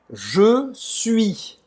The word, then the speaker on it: je suis: Aí, para falar o suis, primeiro, o U em francês faz a boca do U e fala I. Ele tem um som diferente de português. Como é? U. U. E aí depois você vai falar um I. O S não vai ser pronunciado, tá?